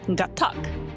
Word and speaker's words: Gatak: No, it's Gatak. That's how you say it. Right, hard cut.